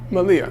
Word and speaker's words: Malia: So he knew something about the law before this conversation with Malia. I think her name is Malia or Mali. How do you pronounce it? What? Malia.